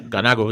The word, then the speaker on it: Ganago: Ganago? Is that how you pronounce it? Yeah, Ganago, yeah. Yeah, Ganago.